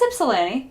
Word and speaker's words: Ypsilanti: How do you pronounce that one? I might get it wrong. Ypsilanti. Yeah, it's Ypsilanti. I've heard seen people say Ypsilanti.